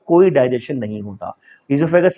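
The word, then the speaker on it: oesophagus: Tube को बोलते हैं ईजोफेगस। ओ is silent, sometime people says ओइजोफेगस, तो आप ओइजोफेगस भी बोल सकते हैं।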